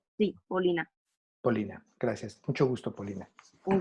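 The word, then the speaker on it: Полина: ¿Tu nombre se pronuncia Polina? Sí, Paulina. Polina, gracias.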